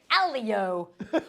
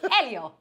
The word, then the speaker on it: Elio: Hold on. Wait. Alio. Elio. Elio. There's only two people that said it properly.